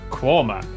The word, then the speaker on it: Quernmore: Gotham goam followed by a stop in quernmore quma before finishing up in alwick anik which is